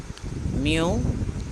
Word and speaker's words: mu: The third symbol is pronounced as mu, which is most commonly used in student t-test.